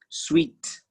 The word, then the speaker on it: suite: let's continue to the next one sweet sweet s-u-i-t-e sweet sweet sweet candies luxury rooms very good rooms sweet can i have the sweet in your hotel suite room can i have